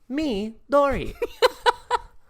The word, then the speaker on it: Midori: how to say this midori midori i've seen many episodes on nickelodeon what dora the explorer okay and it sounds like what you're saying is me dory okay dory yeah s.u